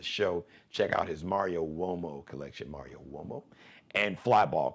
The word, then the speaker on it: Uomo: Now, Uomo, spelled with a U. It's an Italian surname. So Uomo is U like umbrella, O like Oprah, M like Mary, O like opera.